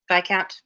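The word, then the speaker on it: viscount: sure i've heard it i know you don't pronounce the s even in english yeah no it's a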